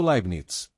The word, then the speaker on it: Leibniz: Os nomes por trás dessa história são Isaac Newton e Gotfried Wilhelm Libinitis, pronunciado Libnits.